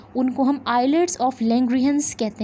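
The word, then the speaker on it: islets: Group of endocrine cells जो हैं उनको हम आइलेट्स ऑफ लैंग्रेहंस कहते हैं. इसलेट्स नहीं कहेंगे, आइलेट्स जो हैं एस साइलेंट है हमारे पास.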